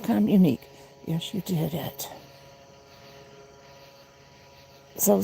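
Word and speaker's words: communiqué: It's pronounced communique. Yes, you did it. So sweet. That doesn't sound like that's good. Communique.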